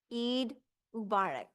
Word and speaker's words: Eid Mubarak: Eid Mubarak.